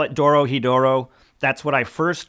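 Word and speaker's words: Dorohedoro: going to call it Doro hedoro that's what I first called it I only try to say Doro hetero because I'm trying to pronounce it correctly let's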